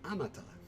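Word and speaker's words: あなた: Would you like to listen to the pronunciation again? So it's anata.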